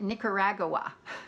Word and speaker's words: Nicaragua: I really noticed was the country in Central America that I would refer to as Nicaragua she called it Nicaragua I just sounded wrong